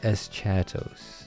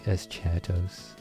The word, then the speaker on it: Eschatos: Yeah, oh, Eschatos. Yeah, it's probably Eschatos. That's probably how you pronounce it.